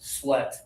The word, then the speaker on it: sweat: This one is actually the same as met. It rhymes. Sweat.